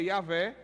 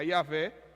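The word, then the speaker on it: Yahweh: nome de Deus e pode ser yaveh eu gosto de pronunciar a yaveh pode ser Javé ou pode ser Jeová Oi e a versão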